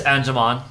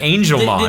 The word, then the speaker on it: Angemon: Yeah, oh yeah, it is Angemon. Is it in English? Yeah. Oh, okay. I always heard motherfuckers pronounce it Angelmon.